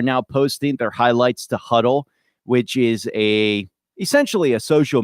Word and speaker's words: Hudl: Just do a Google search for George Johnson Huddle, Martin County, and Huddle is spelled Hudl.